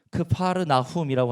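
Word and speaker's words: כפר נחום: 우리말로는 가버나움이라고 읽지만 히브리어로 읽으면 크파르나훔이라고 하는데, 크파르는 마을이란 뜻이고 나훔은 구약에 나오는 나훔 선지자의 이름인데요, 나훔은 긍휼, 자비, 위로하심, 도우심, 그 은혜, 이걸 상징해요.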